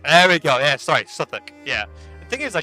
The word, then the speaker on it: Southwark: Southwark is not even pronounced how it's. Oh, so it's actually Southwark. Southwark. There we go. Yeah, sorry, Southwark.